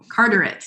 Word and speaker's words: Carteret: tech i'm sorry i don't know how to pronounce the first name is it carteret community college all right carteret thank you um more wake tech and former